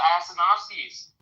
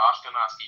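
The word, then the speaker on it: Ashkenazi: the Levant to the Asenoskis who to those group and the I pronounce that the Ashkanazi Jews and the and the Orthodox Jews. I did it the right way.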